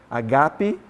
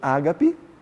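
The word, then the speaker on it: ἀγάπη: agapao, ou a palavra agape, alguns vão falar HP, né? Mas o acento na verdade vai estar no G. Agape, alguns vão dizer ágape, né? Mas a pronúncia seria mais o HP.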